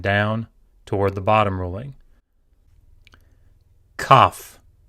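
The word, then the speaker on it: כף: Kaf. Kaf. This looks like a backwards C. It is either pronounced hard, k, k, as in kite, or ch, as in loch, just like chet.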